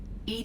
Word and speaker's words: EDI: is a jar why are you named Ed Ed is the phonetic pronunciation of Eed that is an acronym for